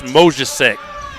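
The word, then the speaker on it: Mozicek: over to number two I believe that's mesc is how you say his name it's m o zi c e k that's him with the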